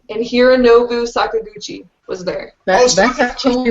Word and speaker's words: Hironobu Sakaguchi: I got to see Nobuo Uematsu and Hironobu Sakaguchi was there. That's actually right. You pronounced them right.